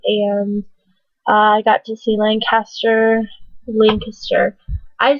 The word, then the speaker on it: Lancaster: that we go to all the time is pronounced Lancaster spelled the same way but when I got there I was I was told it was Lancaster so I went to Lancaster and I went